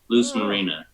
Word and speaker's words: Luz Marina: marina loose Lu said so loose like a loose loose shoestring loose Marina just yeah it's more